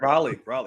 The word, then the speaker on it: Raleigh: No offense to Trey Wisner, but Hollywood Smothers and Raleigh Brown are just, I said it right? Raleigh? Yeah, you said Raleigh, yeah.